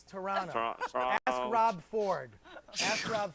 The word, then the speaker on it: Toronto: Toronto correct correctly because the second T is silent right Toronto Toronto it's Toronto ask Rob Ford ask